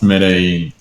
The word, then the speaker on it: Medellin: Pronounced Medellin.